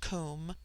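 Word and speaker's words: coom: immortal spirit vidya immortality comb pronounced like the welsh comb denotes something of hollowness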